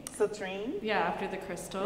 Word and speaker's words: Citrine: I would be Citrine, that would be my name. Citrine? Yeah, after the crystal. It rhymes with latrine.